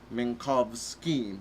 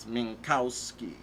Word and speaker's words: Minkowski: And we sort of checked with someone we knew who was of Polish ancestry, and they sort of said it would be Minkowski, not Minkowski.